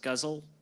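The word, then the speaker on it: ghazals: It's spelled G h a z a ls. I think it's pronounced guzzle according to the internet.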